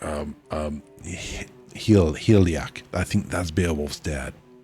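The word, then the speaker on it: Hygelac: Um um Hil Heliaak. I think that's Bewolf's dad. You don't pronounce the G. Helac.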